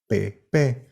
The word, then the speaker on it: Pepe: The moniker Padre Putativo was too long to reproduce in paper, so it was abbreviated as PP, which in Spanish is pronounced Pepe, and that's how all Josés got their nickname.